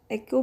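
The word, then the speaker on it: echo: I don't know कि इसको कुछ लोग एको भी प्रोनाउंस करते हैं, इको भी प्रोनाउंस करते हैं।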